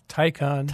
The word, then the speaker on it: Taycan: All right, so I read an article that you did recently, Dan, on Autoblog, testing the Porsche Taycan. Taycan rhymes with icon.